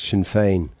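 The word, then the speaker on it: Sinn Féin: Gaelic and you know I might be pronouncing it wrong but as as far as I'm aware it's Shinfane.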